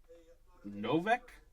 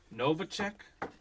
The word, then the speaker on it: Novacek: Greats for the Cowboys, Jay Novak. Is that how you say his name, Chad? Jay Novak? Your third one today? Novacek? Novacek Novacek.